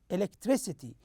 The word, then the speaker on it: electricity: we have uh the third syllable stress here with one example that is electricity electricity you notice the third syllable here is uh stressed more than uh the other syllables let's listen